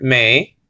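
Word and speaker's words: μή: It says over here not, and that's the Greek word may. Okay, it's translating the Greek word may, mu eta. Nowadays it will be pronounced me, but we're not talking about modern pronunciation of Greek here.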